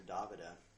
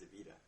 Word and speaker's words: Davida: Everybody calls her Davida, but actually her name's pronounced Davida.